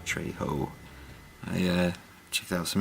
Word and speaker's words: Trejo: it's danny trejo trejo so how do you say yeah you have to say trey ho i uh checked out